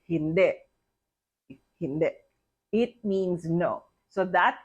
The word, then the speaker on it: hindi: In Filipino, based on Tagalog phonetics, the sound of I becomes the sound of the short letter E, which is if the I is in the last syllable.